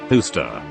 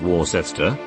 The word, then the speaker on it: Worcester: other not our kansas edit also why is worcester pronounced hooster not war sister i studied in mma and this still baffles